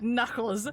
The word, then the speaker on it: Knuckles: like oh my God the word Knuckles that's a silent k kles you mean kles the word you right there says kles it's Knuckles a silent silent k that doesn't make any